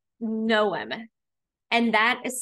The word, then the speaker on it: Knowem: One of them is called Knowem, and that is spelled K-N as in never, O-W-E-M as in mom.